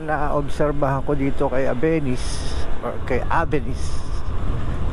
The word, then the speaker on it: Avenis: naobserbahan ko dito kay abenis or kay abenis tamang pronunciation pala nito is Suzuki avis hindi abenis avis ay pagdating talaga